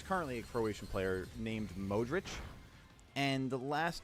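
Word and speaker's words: Modrić: uh name ending and the pronunciation is usually like itch.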